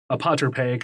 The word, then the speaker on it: apotropaic: that and that kind of goes into uh apotropaic items i say that right i had i